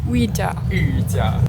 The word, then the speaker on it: Yu Jia: But my name's Yu Jia. Yuja. Yuja. Yeah. But since like it's spelled like Yujia. Yuja. Yeah, something like that.